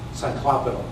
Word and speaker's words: Cyclopean: Cyclopean, okay. As in Cyclops?